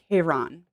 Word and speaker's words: Charon: this this guy um k-ron actually is how his name is pronounced um this is a